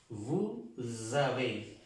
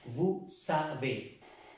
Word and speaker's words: vous avez: Vous avez. No vous savez. No es vous savez, sino vous avez. Nous avons. Nous avons. Vous avez. ¿De acuerdo? Esa sola S, les dije, se pronuncia como una Z.